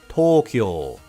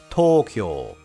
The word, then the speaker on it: Tokyo: of Japan's capital Tokyo once again those long sounds come into play most Westerners don't use